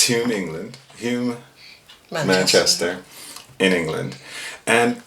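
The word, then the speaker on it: Hulme: English person to say properly because I can't pronounce it it's huming 'land Hume I'm Manchester in England and this actually is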